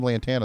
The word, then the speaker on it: Lantana: goes yeah i'm from lantana they go off of lake worth it's just because it rhymes with havana guys okay sorry we're